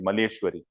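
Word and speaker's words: Malleswari: Karnam Maleshwari, not Maheshwari, Maleshwari, right?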